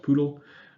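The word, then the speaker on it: PDAL: data abstraction library or PTL sometimes pronounced poodle it is a parallel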